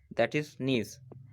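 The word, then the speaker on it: niche: That is नीज। तो नीज को आप नीचे से लेट कर सकते हैं, नीचे। अगर इसको ऐसे पढ़ेंगे NICH, नीचे, प्रोनाउंसिएशन तो नीज होगा, लेकिन उसे नीचे भी बोल सकते हैं, नीज।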